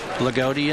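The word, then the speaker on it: Loogootee: Lagodi, Indiana. Lagodi. It's Loogoote. Lagodi. You got it.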